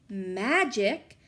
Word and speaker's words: magic: grade and could read magic has a soft G like Jim and a hard C like cup she said now I